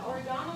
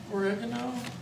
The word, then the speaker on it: oregano: Then there's oregano, 2 teaspoons. Oregano? Oregano. Yeah, no, that's right. Yours is the British pronunciation. oregano. Just checking It's myself. American pronunciation, right? The Brits do say oregano.